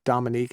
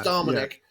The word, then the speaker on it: Dominic: Wait a minute, Tracy's asking, is there a reason I call him Dominique instead of Dominic? Yeah, it's because I probably say it wrong, Trace. That's probably the reason why. There's no doubt about it. Yes, you do actually. It is Dominic.